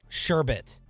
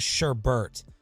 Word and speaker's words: sherbet: at dinner over um sherbet yeah he started this whole fight in Texas they say sherbet and no they don't everyone says Sherbert uh ecstatic or estatic